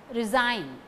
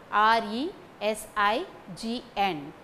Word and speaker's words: resign: sword w is silent resign r e s i g n g is silent resign pterodactyl p t e